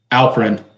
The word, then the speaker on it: Alperen: Alperen Sengun, did I say his name right? Or Alfred? Yeah, Alperen.